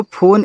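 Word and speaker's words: phone: एक बात सुन लो फोन English word है तो लास्ट में जो इ आता है ना उसका उच्चारण हम नहीं करते हैं इंग्लिश में तो देखो सिर्फ एन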